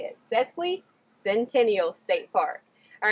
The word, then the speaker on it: Sesquicentennial: amazing thing and that's how to say it sesquicentennial state park all right i hope you guys